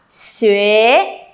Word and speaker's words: 学: Xuế, Xuế. À, các bạn thấy không? Rõ ràng là nó không có dấu hai chấm bên trên, nhưng tôi vẫn phải đọc là yê, đúng không?